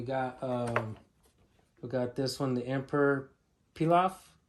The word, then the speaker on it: Pilaf: All right, we got this one, the Emperor Pilaf. I think that's how you say it, like rice pilaf.